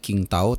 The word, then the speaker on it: Qingdao: kita akan menghadapi China di Qingdao atau bacanya Qingtao tanggal 15 Oktober tahun ini tentunya ya.